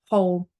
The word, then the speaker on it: whole: the W the W if it's followed by an O we pronounce the h whole who's whom um who so I